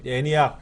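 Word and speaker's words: ENIAC: 지금까지 시험에 나왔던 것 중에는 마크원, 애니학, 에드, 유니백 애니학 예, 발음을 애니학이라고 일반 우리가 그냥 읽어요.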